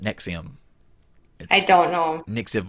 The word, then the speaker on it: NXIVM: from joining nexium and it's not Nick like this is Nick like how did he convince people to pronounce it nexium I don't know mix